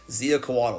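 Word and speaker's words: Xiuhcoatl: I had to look that up to make sure I pronounced that correctly. Ziacoatl.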